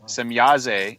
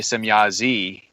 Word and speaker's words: Semjase: then some people say some Yazzie and that's that has a different meaning and it's actually more of a negative meaning apparently if it's pronounced e at the end of her name instead of a Billy